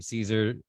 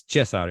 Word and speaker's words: Cezar: he said it was okay to call him Caesar uh but uh the real pronunciation is chess outer is that right absolutely are you sure absolutely